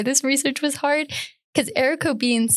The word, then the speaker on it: haricot: So if you ever run into something about haricot beans, not haricot vert, but haricot beans, it's spelled like haricot, but the French pronunciation is haricot.